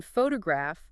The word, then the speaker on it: photograph: So in photograph, the stress is on the first syllable, photograph.